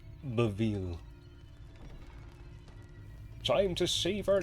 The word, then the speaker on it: Bevil: What if it was always Bevel? This is when you find out you've been mispronouncing his name his whole life. It's Beville.